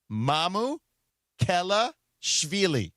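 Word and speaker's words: Mamukelashvili: Has agreed to a Alex is the easiest way to pronounce it. Mamu Kelashvili.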